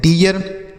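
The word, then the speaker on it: dear: डी से हम पढ़ेंगे ड। इ ए के बाद आर है तो इसका उच्चारण होगा इ ए के रूप में। आर से र ये हो गया डियर।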